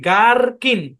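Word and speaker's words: gherkin: এখানে জি এইচ আছে শব্দের শুরুতে এইচ টা সাইলেন্ট তাহলে উচ্চারণ কি গার্কিন কি উচ্চারণ গার্কিন গার্কিন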